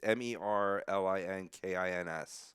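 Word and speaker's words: Merzļikins: Oh, I learned how to pronounce his name too. Oh, yeah, Elvis. Elvis Merilinckins or Merilinckins. Merrill Lincoln's. Yeah, it's Merlinkins.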